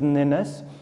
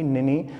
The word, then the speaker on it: Ninus: The royal pronunciation is Ninus. Flute has pronounced it incorrectly, Nini. So this person, Queens, is correcting flute, that, you know, you should pronounce it Ninus, it's not Nini.